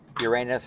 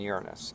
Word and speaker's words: Uranus: There's two pronunciations, Uranus and Uranus, and I believe both are considered proper.